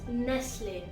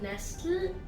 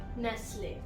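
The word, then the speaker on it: Nestlé: So the British pronunciation is closer to the French pronunciation. Croissant. The next word is Nestle. Nestle. Not Nestle, Nestle.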